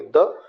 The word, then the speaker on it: the: द same thing happens with article द। जब हम weak form में बोलेंगे तो बोलेंगे द, लेकिन स्ट्रॉन्ग फॉर्म में जब हम इसका प्रोनाउंसिएशन करेंगे तो इसको बोलेंगे दी।